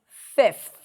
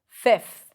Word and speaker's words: fifth: The first one is fifth. Fifth because of the th and the cluster at the end.